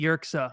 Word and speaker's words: Yerxa: We have Jessie Yerxa on the show. Did I pronounce your last name right?